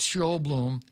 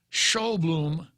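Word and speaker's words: Sjoblom: said now s-j-o-b-l-o-m uh i would pronounce that show bloom looks like a danish name but then the guy's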